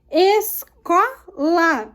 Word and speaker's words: escola: Escola. O có é a sílaba tônica das paroxítonas.